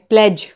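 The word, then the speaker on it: pledge: इसमें भी ड का प्रोनंसिएशन नहीं है। प्लेज।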